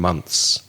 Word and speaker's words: months: to do it correctly you need to put your tongue between your teeth and say month th and then just the S on the end months and another related word